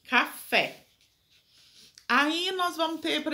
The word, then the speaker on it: café: A sua sílaba tônica é a última, café, e é acentuado porque é uma oxítona, ou seja, a sílaba tônica tá na última, terminada em E, café.